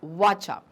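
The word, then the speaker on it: Kwacha: Okay, so Zambia, Lusaka and currency used in Zambia is वाचा. Okay, सो के is silent, it's वाचा.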